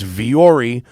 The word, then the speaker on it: Vuori: It's Viori, but it's spelled Vuori.